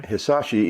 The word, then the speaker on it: Hisashi: Baseball's first-round draft pick in last year's fantasy, Hideshi Iwakuma, is that how you say his name? Hisashi Hisashi, Iwakuma.